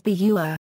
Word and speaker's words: butter: In British English, the glottal stop is most familiar in the Cockney pronunciation of butter as bua.